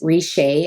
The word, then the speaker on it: Richer: to call it but my last name is richey and it's spelled like phonetically spelled richer and so it's called